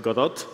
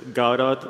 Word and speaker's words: Godot: founded in Argentina and the founder it pronounces it Godot a lot of people from the you know native English speakers use gaurat or any other kind of pronunciation but it's however you feel like it that thank you for